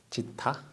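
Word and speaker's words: ζ: 그럼 여기에서 중요한 게 지타를 뭐라고 하냐면 얘 지타라고 읽어요. 지타.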